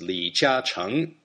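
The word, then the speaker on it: 李嘉誠: In Mandarin, his name is pronounced Li Jiacheng.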